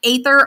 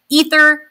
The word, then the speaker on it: Aether: Prince ather himself and I know it's said ether but I personally say ather a lot and that's the way it's spelled like in English but like ether ather if I say